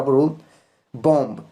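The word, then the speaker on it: bomb: पर जो एम है एम के बाद बी है यानी एम के आफ्टर में बी है और यहां पर भी बी को साइलेंट रखना है इसको हम पढ़ेंगे ना की बम ओके और अब है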